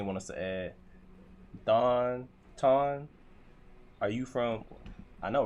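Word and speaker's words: Thanh: No t no ton. T H A N H is ton in Vietnamese. What's up y'all? You pronounce it ton with an N at the end.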